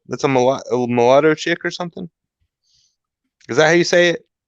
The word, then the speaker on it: mulatto: Mulatto? That's a mulatto chick or something?